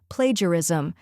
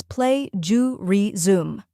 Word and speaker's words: plagiarism: Next is ju, which is a soft J sound, like in measure.